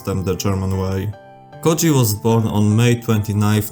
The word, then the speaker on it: Közi: You know, like how MLY crew and Motorhead used in their names, but didn't pronounce them the German way. Koji was born on May 29th, 1972.